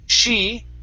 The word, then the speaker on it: she: s okay um but when you say the word she she sometimes it sounds like this she sh okay so you need to push your lips in and open your mouth a little bit more she good just like